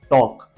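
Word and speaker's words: talk: कि एक वर्ड है टॉक टी ए एल के अब देखिए इसके अंदर एल है लेकिन हम इसको एल का प्रोनंसिएशन नहीं कर रहे डायरेक्ट हम टॉक बोल रहे हैं जैसे कि वॉक जैसे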